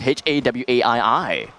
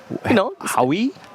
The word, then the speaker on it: Hawaii: Then how would you pronounce H-A-W-A-I-I? Wait, slow that down. H-A-W-A-I-I. Howie?